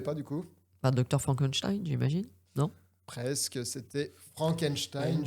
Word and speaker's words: Frankenstein: Non, mon nom se prononce Frankenstein.